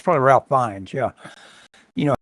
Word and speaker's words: Fiennes: No, it's probably Ralph Fiennes, yeah. You know how it's spelled, Fiennes.